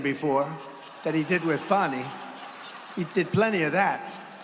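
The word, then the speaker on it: Fani: He worked with Fonnie even though it's spelled Fanny. F A N I.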